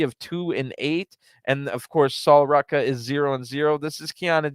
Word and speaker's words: Sol Ruca: It's Sol Ruca, and yes, that is I have been pronouncing her name right.